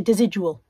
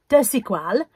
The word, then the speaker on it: Desigual: Took me a while to learn how to pronounce it. I used to say Desigual. Desigual.